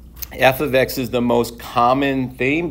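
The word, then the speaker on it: f(x): now introducing is function notation we announc we pronounced this F ofx okay this right here can be any letter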